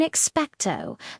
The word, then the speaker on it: Expecto: In expectto, the O sound is a pure long O, almost like you're saying the letter O itself. Feel that? It's rounded and formal.